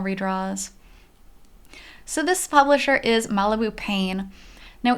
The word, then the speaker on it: Malibu Pain: So this publisher is Malibu Pain. Now, if you read out the Japanese pronunciation of their name, it's pine, like pa-i-n, like pine. But in English, they actually spell it out as pain.